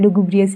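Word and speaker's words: lugubrious: जो दूसरा सिनोनिम है वो लुगुबियस है। हो सकता है मेरे प्रोनंसिएशन बेकार हो लेकिन है लुगुब्रियस ही कहते हैं।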